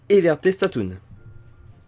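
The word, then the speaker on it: Everte Statum: Ça se prononce statoon, pas statine.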